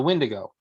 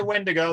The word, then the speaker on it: Wendigo: of the windigo um is it wendigo when to go i say when to go there's there's many different spellings and probably half a dozen different pronunciations i use i use wendigo now the funny thing is